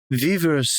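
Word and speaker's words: vivre: separate word separate word v i it's VRA vivra VII jeweles and Jim definitely want to shout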